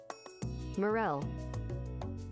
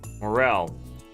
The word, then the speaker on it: morel: How to pronounce? Morel. Morel.